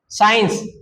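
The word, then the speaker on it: science: जैसे साइंस स ध्वनि किसकी आ रही है?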